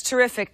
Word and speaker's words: Terrific: specifically very very good that's terrific t r e f i doesn't teric not spelled like it sounds but um but that